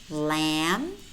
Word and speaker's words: lamb: plumber plumber tune tune lamb Bom Bom comb comb climb climb notice how many of these words we have em B clusters and in these words normally the B is silent we only pronounce that